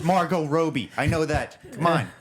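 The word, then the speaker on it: Margot Robbie: her yeah wait what you mispronounced her name on purpose that's the same as dead name can can can you just not roll along with the please yes I know it's Margo Roby I know that come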